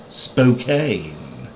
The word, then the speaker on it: Spokane: taking it over to uh i believe it's pronounced spokane in washington i'll be doing it in this